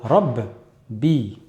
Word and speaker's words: rabbi: Ou bien, par exemple, rabbi, c'est rabbi. Je vais d'abord le prononcer sakin, rab, et ensuite je vais le prononcer avec la kasra, bi.